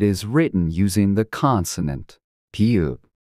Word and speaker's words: 비읍: the m in 미 비읍 b as in book. To pronounce this sound, close your lips together and then release the air forcefully, making a sound similar to B.